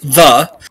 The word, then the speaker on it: Ye: Okay, the Y-E is still pronounced the, and S-H-O-P-P-E is still pronounced shop.